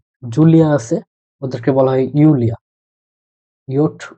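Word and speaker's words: Julia: যাদের নাম জার্মানতে জুলিয়া আছে ওদেরকে বলা হয় ইউলিয়া ইট উ এল ই আ ইউলিয়া এখন এ জায়গায় রিটার্ন আসে তাই বলে কি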